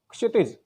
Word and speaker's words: क्षितिज: आपकी पुस्तक है तो आपकी पुस्तक में आप देखोगे तो पुस्तक का जो उच्चारण है कोई क्षितिज करेगा, कोई कुछ करेगा, जबकि सही क्या है, क्षितिज, क्षितिज, क्षितिज, क्षितिज।